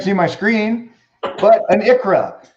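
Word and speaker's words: ICHRA: Tell me if you can't see my screen, but an Icra. It is pronounced Icra, however it's spelled, I-C-H-R-A.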